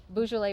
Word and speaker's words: Beaujolais: Beaujolais? Beaujolais bonnets, yeah, like the wine.